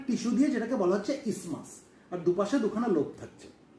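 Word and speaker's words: isthmus: এই টিস্যুটাকে বলা হয় ইসমাস। যদিও এর স্পেলিং হচ্ছে আই এসটি এম ইউ এস। এই টিএইচটা সাইলেন্ট থাকে। তাহলে আমরা এটাকে ইসতেমাস বলবো না। আমরা কি বলব? আমরা ইসমাস বলব।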